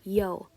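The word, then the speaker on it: Ё: is I mean this letter is actually called yo and it's literally just like the the E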